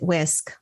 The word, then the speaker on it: WSCC: understand wswc um but they pronounce it whisk like your kitchen whisk that you would cook with and what this plan